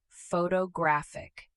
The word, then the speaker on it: photographic: Photographic. The stress shifts again.